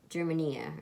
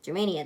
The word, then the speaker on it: Germania: betrayed by a German German eeeh or Germania Germania there we go I get over say right I said it wrong for the longest time and